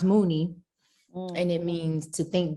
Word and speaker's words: Muni: it's a filipino word and it means it's pronounced mooney and it means to think deeply from within